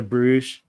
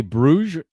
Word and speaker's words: Brugge: And when you were in, do you say Bruges? Is that how they say it? I think that's how we say it in English, at least. I only know how the announcers, they call it Club Brugge. Maybe that might be how they wrong. say it. I have no idea.